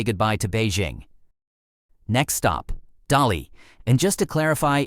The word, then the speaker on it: Dali: Next stop, Dali. And just to clarify, it's pronounced Dali and not Delhi.